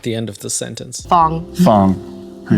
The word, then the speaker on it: Fong: end of the sentence Fong Fong who you spell it f o n g okay like song He's like I need